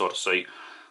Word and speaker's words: Audeze: going to look at these Odyssey this s like Space Odyssey Odyssey that's how you actually pronounce it and these are planner